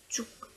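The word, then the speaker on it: 쭉: are easy, but unfortunately that one, the pronunciation is quite similar. So for saying side, it's chok, chok, and for saying straight, so to go straight, is chuk.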